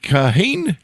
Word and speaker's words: Kahane: His popular columns for National Review, written under the pseudonym David Kahane, do I have that pronounced correctly?